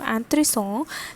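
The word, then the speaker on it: intéressant: for the feminine okay next is anthoresson anthony song which means interesting okay for femina and extra e is added over here and the pronunciation from anthony song changes to and three songs and three songs and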